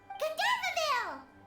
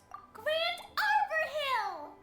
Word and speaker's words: Gandharvaville: Gandharvaville. Gandharvaville. Grand Arbor Hill! Huh? No, it's not a hill. Ah, wait! Lo pronuncia mal.